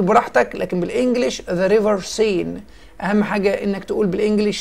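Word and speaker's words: Seine: عندي ذا ريفر سين، ذا ريفر سين. النطق الكلمه دي حبايبي سين اللي هو بنقول عليه نهر السين في فرنسا.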